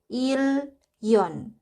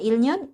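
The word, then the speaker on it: 일년: Yang kedua ada ilnyon. Dibacanya yaitu ilyon. Ilyon. Huruf real di sini dia berubah karena huruf bacim real bertemu dengan huruf nien. Jadinya si niennya ini berubah menjadi real. Jadinya ilyon. Ilyon, bukan ilnyon, ilyon.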